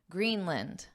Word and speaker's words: Greenland: not saying Greenland Greenland the word here is land but in English we have the concept of syllable stress so in this case green is the stress syllable so this vowel becomes unstress Lind in in Greenland Greenland this is the phonetic spelling where you can see that a is our schah sound which is just an unstress end end and then I wrote